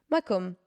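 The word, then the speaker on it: מקום: Comment ça se prononce? Makom.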